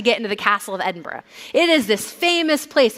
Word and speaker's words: Edinburgh: Not Edinburgg, by the way, which Scottish people will correct you if you say it incorrectly. Edinburgh. There's a another, you know, con like there's another syllable there that is hard to see.